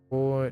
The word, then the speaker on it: 乌: Ooh, initial is quite unique. When not paired with any final, it is pronounced similar to oo. Yeah, in the word tool. When paired with a final, the woo.